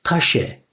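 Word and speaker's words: Tasche: Taşe, taşe.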